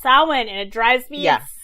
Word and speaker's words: Samhain: but it looks like it's champagne it's not sam hayne it's my huge pet peeve it's pronounced samhain and it drives me yes hey but in